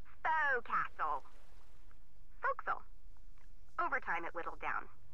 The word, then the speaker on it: forecastle: ship but it's pronounced fo'c'sle why is that try pronouncing it like an english sailor with no formal education Oh Castle fo'c'sle over time it whittle